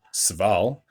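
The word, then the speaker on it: Civale: Aaron Sval, I believe is how you pronounce that name.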